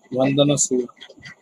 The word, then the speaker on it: Vandana Shiva: Did I pronounce that wrong? Vandana Shiva. Vandana Shiva.